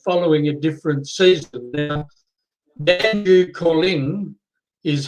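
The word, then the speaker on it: Danjoo Koorliny: Now, Dandu Calling is how it's pronounced.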